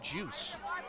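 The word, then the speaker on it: Joos: that name you know it's about Jay o OS pronounced juice at the Dallas diamond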